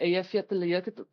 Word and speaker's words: Eyjafjallajökull: Eyjafjallajökull, which is the one that wrecked all the air traffic in Iceland.